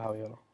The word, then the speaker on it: Javiielo: Pues mira, las 2i vinieron, primero era por la pronunciación. Yo antes lo pronunciaba de otra manera, y por eso fue que le incluí la i. O sea, era como que hacía la pausa, el Javi como que hacía la pausa, ¿entiendes?